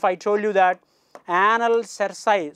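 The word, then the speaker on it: cerci: told you that anal cersei some people will pronounce it as anal circuit also no issue anil cersei 15 segmented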